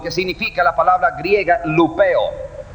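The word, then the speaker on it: λυπέω: Causar dolor o tristeza es la palabra, lo que significa la palabra griega lupeo. Lupeo, así como se pronuncia, así se escribe.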